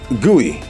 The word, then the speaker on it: GUI: million 10 1,00 100 answer 1,000 often pronounced guey GUI is short for what well-known 3w Tech